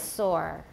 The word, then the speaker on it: sore: up by taiwanese and that's sore and sour because in mandarin they are both swan like this one right but in english they're similar but totally different actually hansson my arm is sore my arm is sore